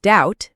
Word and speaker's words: doubt: For example, the B in doubt is silent.